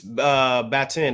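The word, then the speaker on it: Baatin: And rest in peace, Batin, if I said the name right.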